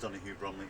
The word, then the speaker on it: Donohue-Bromley: I'm sorry about my pronunciation. My name's Donohue-Bromley.